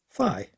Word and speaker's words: phi: As the Greek letter phi, rhymes with pi.